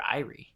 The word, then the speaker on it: Eyrie: Is it Erie or Eyrie? It can be pronounced either way.